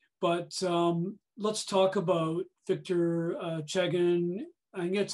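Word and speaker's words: Chegin: But let's talk about Victor Chegan. I think that's how you pronounce it, yes?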